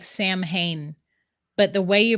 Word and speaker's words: Samhain: Samwinophobia, Samhain. Samhain. It's spelled Samhain. It looks like Sam Hain, but the way you pronounce it is Samhain.